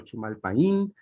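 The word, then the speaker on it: Chimalpahin: ¿Cómo se pronuncia, maestro? Chimalpajín, que llama Toyoca a los habitantes de esta tierra.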